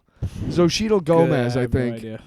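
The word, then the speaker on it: Xochitl: Zoshidel Gomez. I think it's because it's it's XO Hi TL. So, I think it's Zoshidel Gomez.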